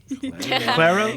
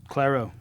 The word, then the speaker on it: Clairo: Clero. Clero. Sorry, it looks it's spelled like Cairo with an L, so I say Clairo.